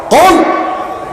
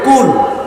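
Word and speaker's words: قُلْ: এখন আপনি যদি এটা পড়ার সময় মোটা করে কাফ উচ্চারণ করতে না পারেন, আপনি যদি চিকুন করে বলেন যে কুল, কি কুল?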